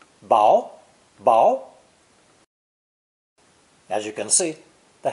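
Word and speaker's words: 雹: raindrops this new character is pronounced second tone bow as you can see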